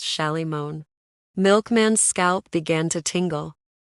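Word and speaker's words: Shalimar: Solomon shomer which Mister Solomon and everybody else pronounced sh moan milkman's scalp began to tingle Jay the only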